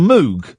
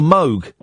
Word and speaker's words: Moog: um indirectly there's a a synthesizer called the moo I'm familiar yeah it's not it's called the Moog yeah I know it's pronounced Moog it was Robert Moog and it's spelled mg